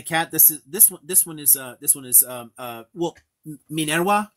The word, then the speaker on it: Minerva: This one is well, Minerva is how I'd say it, but that's the Latin pronunciation. Minerva is fine in English too. She answers to both, but Minerva or Minerva.